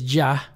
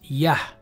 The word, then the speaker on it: יה: Here it says Jah, but we know it's Yah.